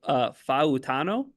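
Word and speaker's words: Fautanu: Let me make sure I'm getting the pronunciation right, because I know it's important on the show and in all things. So Fautano.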